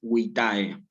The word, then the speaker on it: vitae: Cuidado con la pronunciación aquí y con la acentuación, porque nunca es vitae. Nunca es vitae, porque en latín no hay acento agudo. Esto también es importante grabárselo. Si yo tengo palabras bisílabas, por ejemplo, como fecit o como vitae, lo que yo tengo que hacer aquí es decir, acentuar en la penúltima sílaba, como si dijera fecit o como si dijera vitae.